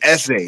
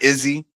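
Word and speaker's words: Eze: He will be uh Oh, I'm saying his name wrong. It's Es, not Izzy.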